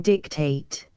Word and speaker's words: dictate: for the good 767 dictate the accent in Milton's time was on the first syllable both in noun and verb spare temp Temperance for